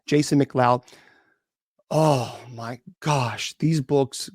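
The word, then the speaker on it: McLeod: His name is Jason Mloud. Now, it's spelled his last name is M C L E O D. Uh, that's how it's spelled. Jason Mloud.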